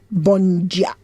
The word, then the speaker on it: bom: spelled b o m d a Bo it's pronounced Bon how are you all Bon good morning same in Brazil it's same well